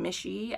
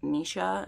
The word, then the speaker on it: Misha: And then this story is about Misha, which I'd been saying Mishy. I think I've heard a lot of people say that, but Carissa Broadbent obviously knows people are missaying it because her name is pronounced in the beginning of this. We get a pronunciation and it's Misha is what I got.